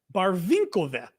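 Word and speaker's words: Барвінкове: It's Barvinkove.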